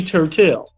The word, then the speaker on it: Turtel: turtle what is your name okay it's really turtel they said oh how do you spell it so so I spelled it t r